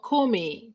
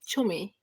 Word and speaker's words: Chome: Is it Chome or Kome? Chome. Chome, right?